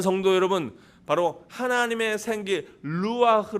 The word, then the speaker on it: 루아흐: 2회 1렙에 d 해서 2 그런 것처럼 이건 루아흐 sch 발음 이거든요 그래서 다시한번 해봅니다 c 오리지날 발음으로